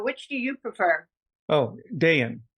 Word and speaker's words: Dayan: some people pronounce it Dan and some people prounce it Dayan so which do you prefer oh Dian day in day out that seems more sophisticated anyway so okay so day in good now um so